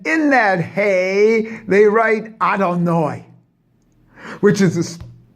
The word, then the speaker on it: Adonai: So the total name is what you read in the prayer books, Yud Hey Vav Hey, and how it's pronounced, Adonai, and that's in the 5 Dinim.